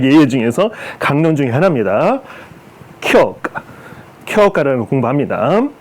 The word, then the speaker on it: 狂歌: 그래서 이거는 교카로 돼요. 교카든가 교카. 이 원래 발음은 쿄가. 광가, 쿄가라는 일본 단시문학, 신화문학의 장르 중 하나인데 그거를 교카.